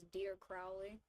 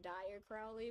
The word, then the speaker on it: Dire Crowley: to be pronounced as Dear Crowley, not Dire Crowley, which is how I usually default to saying his name because I kind of forget that his name is supposed to be pronounced dear.